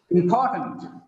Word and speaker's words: important: It is not important because of the stress on second syllable. The last vowel becomes weak. It becomes tent, not tent.